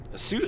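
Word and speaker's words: Sault: me it sounds yeah Sue Sue I know the Sue tribe but that's not the same Sue St Marie is not the same as the Sue tribe and it's spelled differently um yeah s Sous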